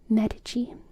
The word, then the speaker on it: Medici: But the correct pronunciation of Medici isn't even that, with the accent on the E. So, Medici. Medici? Medici. Is it more like med or maid?